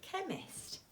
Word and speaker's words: chemist: Okay, a chemist. All right, and we can see that the silent letter is H. And a silent letter H, as we learnt before, can go after the letter C.